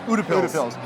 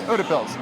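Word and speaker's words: Utepils: Is it Udapils? Yes. Udapils. I butchered it literally 3 times, maybe 5.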